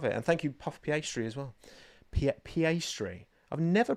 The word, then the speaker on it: Piastri: And thank you, Puff Piastri, as well. Piastri. I've never pronounced it like that, but because there's no reason why I pronounce it like that, actually.